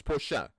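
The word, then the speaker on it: Portia: is I keep think whenever they say her name I think of the car the Porsche I'm like I keep thinking they're saying that but no it's Porsche which still sounds like a car good name what do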